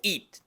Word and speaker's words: eat: it y el verbo eat. El pronombre it se pronuncia con I corta y el verbo eat se pronuncia con I larga, que es como una I del español pero más larga.